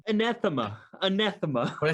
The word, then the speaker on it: anathema: us killing a monster and being heroes as ethema and kill those people for their blaspheme uh